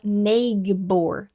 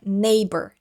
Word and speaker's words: neighbor: Então esse gh é silencioso, ele não é pronunciado, então a gente não fala neigor, tá? Não é neighbor. Neighbor, desconsidera esse gh aí na hora da pronúncia.